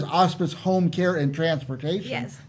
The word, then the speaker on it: Auspice: And Auspice. you pronounced it correctly, I know, too.